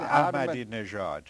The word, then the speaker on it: Ahmadinejad: How do you pronounce it? Ahmadinejad.